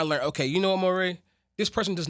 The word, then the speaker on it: Morray: I only spelled it differently so people know how to say it. Right, Morray.